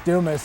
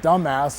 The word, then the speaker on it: Dumas: singer hasn't started yet my name is Dumas and if you pronounce it in a certain way it comes out dumbass and so as we're